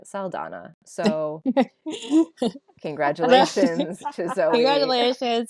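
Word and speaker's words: Saldaña: sleeper of like things that made a comeback in 2024 is the Enye in Zoe Saldana, which previously we were pronouncing Saldana.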